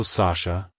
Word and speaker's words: Sasha: emphasize the first syllable sah and then gently say the Sho sound at the end make sure not to emphasize the sh too much like hello Sasha goodbye Sasha if you